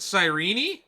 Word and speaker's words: Cyrene: Wait, that's how it's pronounced? Cyrene? It's pronounced Cyrene? Killed Cyrene. Killed Cyrene. Killed Cyrene. Killed Cyrene. I'm never gonna forgive this translation. Why is the E pronounced?